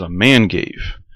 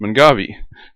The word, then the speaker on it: Mangave: garden i said what in the world is a man gave it's pronounced mongavi this is a cross between manfreda maculosa which